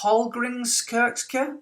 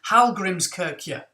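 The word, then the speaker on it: Hallgrímskirkja: Now in Reykjavik, there is a cathedral which, correct me if I'm wrong, I think is pronounced Hallgrimskirkja. I'll try that again. Hallgrimskirkja. Hallgrimskirkja, something like that.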